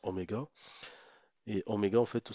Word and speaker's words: oméga: ça cette cette lettre c'est une lettre grecque qui qu'on prononce Oméga et ωé en fait